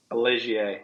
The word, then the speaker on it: Ligier: buy like a used did you pronounce it a Ligier or a Liger? Ligier.